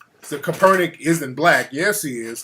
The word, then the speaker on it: Kaepernick: It's Kaepernick.